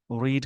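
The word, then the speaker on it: read: सेट का, set upset रीड का तीनों फॉर्म सेम, इसका प्रोनाउंसिएशन बदल जाएगा, रेड रेड बोलते हैं सेकंड फॉर्म और थर्ड फॉर्म में।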